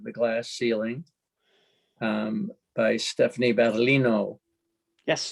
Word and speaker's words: Battaglino: The book is called Reflections from Both Sides of the Glass Ceiling, by Stephanie Battaglino. Yes. The G is silent.